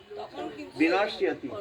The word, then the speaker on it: বিনশ্যতি: হ্যাঁ, বিনশ্যতি, এখানটায় বিনশ্যতি, সিয়তি, বিনশ্যতি, বিনশ্যতি, ওই যখলা থাকলে এরকম ইয় করে উচ্চারণ করবে, বিনশ্যতি।